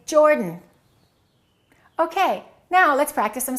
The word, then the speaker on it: Jordan: Don't say he is from Jordan. Reduce that a and say Jordan.